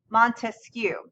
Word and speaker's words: Montesquieu: so his name okay his name has three syllables right Montesquieu so the way that